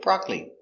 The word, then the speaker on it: broccoli: very good example broccoli it looks like BR but this syllable is silent so we say broccoli I love broccoli it's